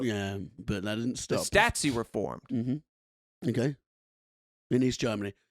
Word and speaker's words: Stasi: on east germany 1950 the statsy is that how you say it stasi i say statsies because they're like nazis but stuff okay uh jazzy